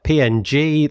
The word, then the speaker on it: PNG: formats of JPEG and PNG. That's how I pronounce it. I'm sorry. I know people pronounce it in different ways, like ping and so on.